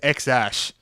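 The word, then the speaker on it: X Æ: The answer is X-Ash.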